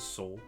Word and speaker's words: Sol: Pronounce it Soul. Lime. Okay. I don't see the vision with this one, but maybe. Gregor Mendel. I like how we have, like, cute name. It's pronounced like soul.